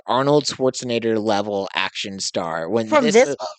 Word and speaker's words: Schwarzenegger: Schwarzenegger. Schwarzinator. Oh, how are you pronouncing the end of it? Nater. Nger. I said nater. No, it's not. It's N for G.